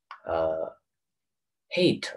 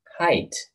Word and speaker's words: height: 是什么 stature 啊，哎。It's pronounced hate, right? Wait a moment, Najee. I'm so sorry. My English, yeah, especially my pronunciation, not good. Hey, I think it's hey. Height. It pronounced height.